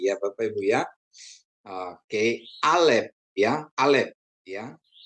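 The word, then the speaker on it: אלף: Aleb ya, Aleb ya. Aleb atau Aleb silent. Huruf pertama dari alfbet Ibrani dan merupakan konsonan serta tidak dibunyikan dalam transliterasinya penyalinan huruf dalam huruf latin.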